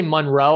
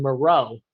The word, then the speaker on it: Moreau: I didn't say Monroe. I said Moreau. How do you say his name? This is not Hoop with Chipotle. Okay. How do you say his name? Foster Moreau.